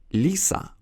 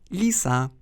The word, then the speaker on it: лиса: Поэтому наши И, переходят в ненапряженный И, как в слове лиса. Лиса. Мы же не говорим лиса. Это будет французский акцент.